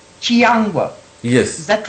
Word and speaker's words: Chiyangwa: Chiyangwa.